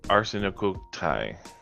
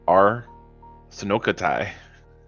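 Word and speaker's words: ἀρσενοκοῖται: Well, the one phonetic thing I saw was not very helpful because it was Arsenokoitai. Like, Arsenokoitai. With an accent on the koi. Arsenokoitai.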